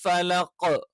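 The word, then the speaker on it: فلق: പാരായണം ചെയ്യണം ബി റബ്ബിൽ ഫലഖ് ഫലഖ് എന്നുള്ള സ്ഥലത്ത് ഇക്ക കറക്റ്റ് ആയി ചിലപ്പോൾ ഉച്ചരിക്കാറില്ല പല ആളുകളും അത് ക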